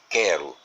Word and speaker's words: quero: Como é que a gente pode provar que nesse encontro quero e nesse encontro evoquei, esse U desse encontro QU não é pronunciado?